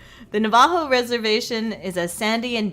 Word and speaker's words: Navajo: funsize you're fun ized emphasis on the first syllable in Navajo Navajo okay Navajo Navajo Navajo not that I hate